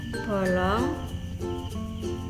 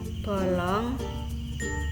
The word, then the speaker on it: bolong: Kemudian vokal O miring. Untuk vokal ini ucapan O menyerupai vokal O. Lambang ejaan untuk vokal O miring yang kita pakai adalah O besar. Contoh: bolong, bolong, bolong.